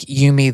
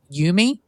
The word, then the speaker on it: Eumie: Is it Eumie? It is Eumie, like Eumie. Yes. Okay, got it. Perfect pronunciation.